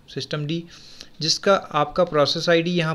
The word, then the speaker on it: systemd: यहाँ पर हम पेरेंट प्रोसेस सिस्टम डी के नाम से प्रोनाउंस करते हैं, सिस्टम डी, जिसका आपका प्रोसेस आईडी